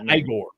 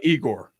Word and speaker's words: Igor: It's pronounced Igor. No, we call it Igor. It's always Igor. Igor is the Pittsburghese version.